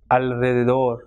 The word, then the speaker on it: alrededor: Now, the letter r is pronounced in a strong way at the beginning of a word, and when it comes after l, n, and sub.